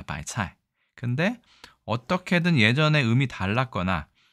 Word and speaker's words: 白菜: 아래 한글이 있기 때문에 대체인데이 발음이 차에 차이라고 합니다 바이 차이 근데 어떻게든 예전에 음이